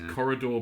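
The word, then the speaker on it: Quoridor: wrong but quidor cor it's Corridor but with a qu at the start um it's a really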